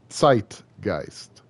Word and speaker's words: zeitgeist: k's flipped also sometimes oh z's z's make a make a uh a t a t s noise so like zeitgeist is sight geist um zveyhander is sveyhander